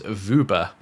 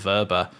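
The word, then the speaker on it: Wöber: back to to verber apparently verba is vuber um that's apparently how you say it it's vuber not verba or Wilbur or wobber or the robber of like any of these apparently is vuber um I'm saying no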